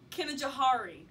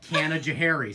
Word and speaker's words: Canajoharie: number one um cannon jewelry very very close Kevin Johari some people pronounce it like that okay Canajoharie so very close he has okay it's like